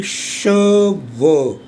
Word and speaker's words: cheveux: For example, il a les cheveux. CH is sh, this is a, EU is a, and last consonant is silent.